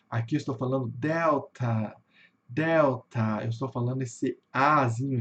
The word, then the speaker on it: Delta: Como eu falei para vocês, no inglês, a sílaba tônica, na maioria das palavras, está no começo. Então vai ficar delta, delta, né? Vai ter um, vai ter uma subida e uma caída pro final, né?